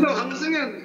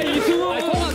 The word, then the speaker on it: 이승훈: 야, 발음 왜 이래? 실망하는 눈치다. 응, 강승현, 강승현이 형. 강승현. 강승현, 강승현이 형. 강승현. 강승현. 강승현 아니라니까. 야, 이승훈이야, 이승훈.